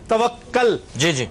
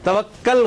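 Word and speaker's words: توکل: Miss pronounce होती है एक लफ्ज है तवक्कल तवक्कल गलत है इसके ऊपर पेश है तवक्कुल तहम्मुल तदब्ुर और तबस्सुम तबसस्सुम भी लोग ज्यादातर तबसस्सम कहते हैं।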